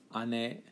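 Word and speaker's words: 姉: city we have ane ane sounds very much like ani but different pronunciation there whereas little sister also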